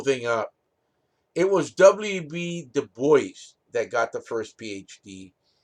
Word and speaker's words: Du Bois: Du Bois, it's not Du Bois, it's the American, you pronounce it American, Du Bois, did not like each other.